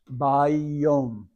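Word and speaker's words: ביום: Now the Yod has a doggish or dot in it, so it's a doubled sound. They're not two Yods, but it ends and begins the following syllable. Vav now is just carrying an O sound, and into the Mim Sofit, that Mim, so it's Bayom.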